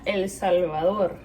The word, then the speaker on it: El Salvador: This is straight from El Salvador, if you want to say it in an American accent. And if you want to say it properly, en español se diría El Salvador.